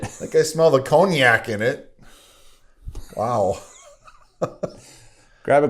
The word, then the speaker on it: cognac: We got eggs, sugar, half and half, whole milk, heavy cream, Jamaican rum, cognac, bourbon. Which is spelt really weird. Yeah. It's cognac. Cognac. The Q is silent.